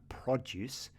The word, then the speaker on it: produce: The pronunciation, you put the stress on the second part. And because we put that stress on the second part, produce, I know that we are talking about fruit and veg.